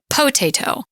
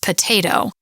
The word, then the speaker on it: potato: When you change the stress on the word, pointing out that the emphasis is not on the first syllable, if it were, we would say potato. Since it's not, that O gets reduced, and it's really more of an or a schwa almost, potato.